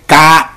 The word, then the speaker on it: kakos: Se escribe P-H-A-U-L-O-S, faulos, que significa malo en cuanto a inutilidad, pero Pablo no utilizó kakos o fonera, que se escribe K-A-K-O-S, o fonera, P-H-O-N-E-R-A, kakos o fonera.